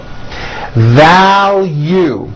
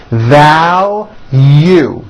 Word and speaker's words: value: Value. There's a strong L and then a hidden Y. Value.